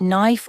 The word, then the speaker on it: knife: For example, the K in words like knife or no, it's completely silent, but many learners accidentally pronounce it.